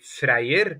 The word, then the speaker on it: Freyr: right Freya is that yeah Freya is good yeah good in Norway we would say freyer but you know that's more of a Norwegian kind of you know normally I want to say it like that you know the Asgard kind of thing and it is